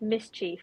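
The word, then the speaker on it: MSCHF: And I found another one which was called Mischief, but it's spelled MSC HF, so it removes all of the vowels from the words.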